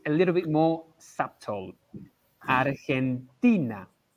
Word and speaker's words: Argentina: sounds different as well it's a lot stronger in in spanish i think argentina so